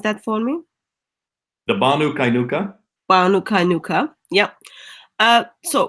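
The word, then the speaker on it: Banu Qaynuqa: happy relationship with vanu kuyanka uh can you pronounce that for me the banu kainuka nuka nuka yep uh so what went wrong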